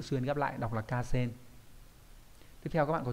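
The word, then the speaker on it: 河川: Còn sông ngòi nói chung thì sẽ là từ Hà và chữ xuyên ghép lại đọc là Ca Sen.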